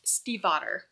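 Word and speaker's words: Stiefvater: Maggie my brother has a friend with this last name who was actually German so it's pronounced Steve otter I bet that solved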